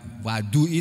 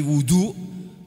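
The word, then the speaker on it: وضوء: Bukan wadui tapi wudu, itu adalah fi'lul wudu.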